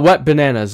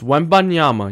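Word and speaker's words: Wembanyama: in the NBA and his name is not wet bananas it's wanyama you don't even know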